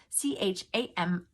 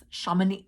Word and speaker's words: Chamonix: And I'm sure there's some person that knows French that's listening to this and going, girl, you don't know how to pronounce that. It's Chamonix, Chamonix.